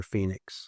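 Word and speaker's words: Fenix: Girl named Phoenix. Okay. F-E-N-I-X. So my wife's Brazilian, so it's spelled Portuguese way.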